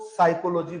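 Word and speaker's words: psychology: silent रहता है जैसे आप बोलते हो ह ओ एन ओ यू आर क्या बोलते हो इसको ओनर एक्स क्या रहता है आपका साइलेंट और व ए टी आई R sound क्या है इसका हम वाटर बोलते हैं वह गलत है इसके अंदर आपका आर क्या रहता है साइलेंट रहता है ना कोई क्या बोलती है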